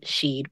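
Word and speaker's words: Sídhe: Also, when I've seen S-I-D-H-E referring to the mound and not the people of the mound, they also pronounce it the same way that I heard the S-I-D sheed pronounced.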